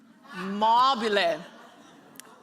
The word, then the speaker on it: MOBILLE: MOBILLE. That's the way it's pronounced.